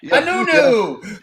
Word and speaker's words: Anuenue: Anuenue. Yeah. And I like right on the left of it, I pronounce it phonetically, or like nu next to the you'll see it underneath the picture over here.